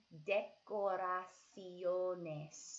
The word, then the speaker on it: decoraciones: Look at the word and see how we're pronouncing every single letter. Decoraciones. So go ahead and say that out loud 2 times. Decoraciones.